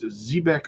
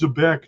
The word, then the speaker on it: Zebec: It's Zbec, not Zebeck.